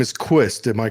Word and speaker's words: Quist: are you and your last name is qust am I correct is that how you pronounce it yes okay we have Quist